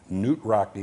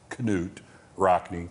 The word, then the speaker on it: Knute Rockne: him in the movie Knute Rockne and actually the names pronounced Knut Rockne is it really all yes it is all-american February 19 1972 Sammy Davis jr.